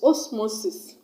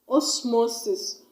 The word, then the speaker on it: osmosis: with or as is is osmosis osmosis o small it has thirst levels and I'm gonna stress on a second stood up from the end of the word the motor stress cone I'm who the mo was this osmosis we will not remember for